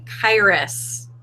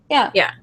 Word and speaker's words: Karis: Joe Sando, you pronounced Tiffany's last name Kairos, if I am not mistaken, because we've had It's several conversations. Karis. Yeah. That is how you pronounce her new last name.